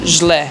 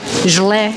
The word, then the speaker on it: Źle: Or źle. Źle. Źle.